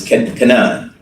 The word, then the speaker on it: Kanan: And can everybody pronounce his name Kanan or Canon? It's Cananan. Officer can. And I don't want to be a jerk about it, but it's can um not Canon or Kane.